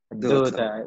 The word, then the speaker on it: daughter: Daughter. قلنا G وال H silent. G and H silent.